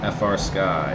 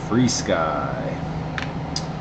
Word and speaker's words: Free Sky: It is not FR Sky. It is not Try Sky. It is Free Sky.